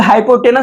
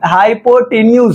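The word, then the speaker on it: hypotenuse: इसको कुछ लोग हाइपोटेनस बोल देते हैं, बट वो रॉन्ग प्रोनाउंसिएशन है। इसका जो होता है वो हाइपोटेन्यूज होता है।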